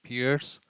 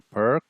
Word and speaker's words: Pirc: So it's probably gonna turn into the classical variation of the Pirc. Less Fian Shadow or the square bishop. Pirc or Pirc. I call it Pirc, but that's actually the mispronunciation of the Pirc defense.